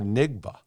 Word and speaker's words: Njigba: Is it Najigba or Nigba? No, is it Najigba? Whoa. It's Najigba. Please How do you spell spell it?